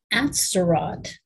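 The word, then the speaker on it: Atzerodt: wounded seward pretty badly george asterot i think is how you pronounce that was supposed to kill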